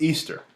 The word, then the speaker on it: Ishtar: Semiramis became known as Ishtar, which is pronounced Easter, and her moon egg became known as Ishtar's egg.